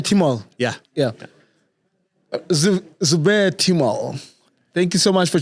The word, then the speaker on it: Zubair Timol: How do you pronounce the name? Timol? Yeah. Zubair Timol.